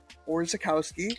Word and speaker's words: Orzechowski: Here's Tyler Orzechowski, right?